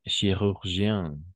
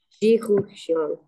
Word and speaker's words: chirurgien: n'aurais pas voulu devenir chirurgien alors tu peux prononcer chirgien ah ch ch ch chirurgien très bien chirurgien très bien et très